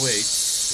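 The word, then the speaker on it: は: Like you got O, you got Ga, you've got Wa, which is spelt like Ha but pronounced like Wa, which is weird.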